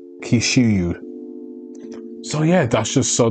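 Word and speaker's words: Kyushu: where hishimoto graduated from University and I'll probably pronounced that robot it's k-y-u s h u kishu so yeah that's just so that's where kishimo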